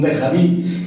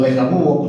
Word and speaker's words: déjà vu: Esto es como un déjà vu o déjà vu, como se pronuncia en francés.